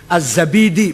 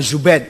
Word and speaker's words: Zabidi: gak ada as asma azzabidi bukan zubaid zabid apalagi jadi jadi Silakan